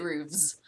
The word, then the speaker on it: roofs: You do kind of, yeah, with our accent, you do make it more of a V sound, really. Yeah, I think roofs, the Fs, but you pronounce it roofs.